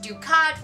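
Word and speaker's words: Ducarte: And she has a general whose name is pronounced Ducat, which reminded me, of course, of Gul Dukat from Deep Space Nine.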